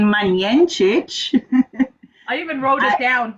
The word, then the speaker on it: Majenjic: Okay, because seeing that you can't pronounce my name correctly, my name is Majenjic.